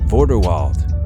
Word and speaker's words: Vorderwald: Vorderwald. The Vorderwald cattle, or as the Germans would call it, Vorderwalder Rind, is a dual-purpose cattle breed with a name that rhymes with Grindelwald.